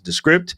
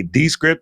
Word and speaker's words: Descript: we use an application known as the script some people say descript because you're taking the script apart whatever you can say